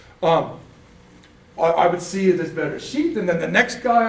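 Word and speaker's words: בראשית: Bereshit. Okay? But if it doesn't have the dagesh, in some of the translations, it's TH. So it would be bereshith.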